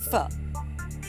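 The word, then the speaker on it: Phở: Stephanie's a type of Vietnamese soup pronounced fur you do have a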